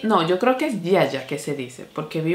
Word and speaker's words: Ziaja: Y dicen Yaya. Entonces entiendo que es la correcta pronunciación de la marca Yaya. Esto es un tónico, este es de la línea Acai Berry.